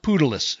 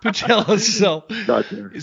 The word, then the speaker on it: Patelis: Giannis Pudelis, is that right? Patelis. No, I know. Patelis.